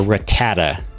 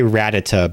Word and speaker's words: Rattata: pronounce it ratata or Rattata I say ratata because I think it's meant to be like a play on the on the phrase Ratatat like ratatatat so ratata thanks for sharing this